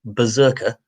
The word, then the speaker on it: BRZRKR: He's going to write a comic for Boom Studios called, now, they're spelling it in all uppercase letters, BRZRKR, which I'm presuming they're pronouncing Berserker.